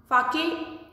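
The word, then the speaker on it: sake: Fake, though the spelling is S-A-K-E, it is pronounced as fake.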